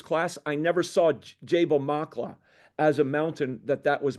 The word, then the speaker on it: Maqla: is the mountain range and Jabal Makla is the specific mountain. You got that? Makla, and it's spelled there in the screen, Maqla.